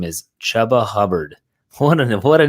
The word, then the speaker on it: Chuba: They're saying it's pronounced Chuba.